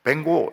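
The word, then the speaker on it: Van Gogh: 우리는 이제 반 고프, 이렇게 고호를 고프 이렇게 하는데 영어로는 그래 안 하더라고요. 뱅고 이렇게 부르더라고요. 뱅고. 그래서 우리 교인들은 고호 부를 때 뱅고 이렇게 하시기 바랍니다.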